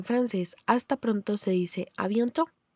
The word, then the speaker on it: à bientôt: La tilde de la A es acento grave, así como en à plus tard. Encontrarán este acento en la A, E, U, para hacer que se pronuncie con la boca abierta.